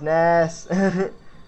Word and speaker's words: Ness: No, it's pronounced Ness.